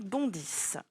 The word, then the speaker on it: bondissent: Ici, attention, il y a deux lettres muettes. C'est le verbe bondir qui est conjugué au présent. Et comme ce sont les lions qui bondissent, on écrit la terminaison ENT.